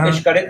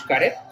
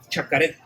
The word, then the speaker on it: Xcaret: Yes, I have heard people from South America that they try to pronounce Xcaret and they say Chacaret because they try to go one after the other. Blend it, blending the consonants.